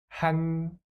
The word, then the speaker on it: 한글: The first syllable is 한, right? Without the final consonant, it is ha. And let's add new sound. 한. The second syllable block is 글. 글. So, 한글.